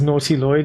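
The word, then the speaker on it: Nautiloid: Pronouncing as naughty Lloyd moving forward.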